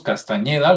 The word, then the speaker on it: Castañeda: Carlos Castañeda, lo voy a pronunciar con ñ, parece ser que él